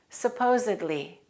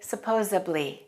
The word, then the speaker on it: supposedly: listen to the pronunciation supposedly supposedly don't say supposably that's a common mistake supposedly means something that